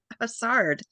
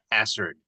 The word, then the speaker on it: Hassard: Technically, I think it's pronounced as hazard. It's a British name, believe it or not.